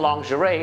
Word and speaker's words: lingerie: อ ก เ สี ย ง ว่ า lingerie ห รื อ ว่ า lingerie ค น